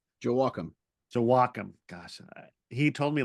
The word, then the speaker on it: Joachim: Joachim.